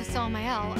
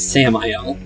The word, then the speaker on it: Samael: Also, I think they're saying that name wrong, by the way. I'm pretty sure it's Samael. But I'll double check that after the episode. But Salmael is how they're saying it here.